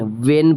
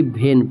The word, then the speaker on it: when: ठीक है, WHAT watt, WHEN वेन पढ़ते हैं, ना कि भेन पढ़ते हैं।